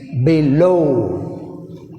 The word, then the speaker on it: below: Next below. Below.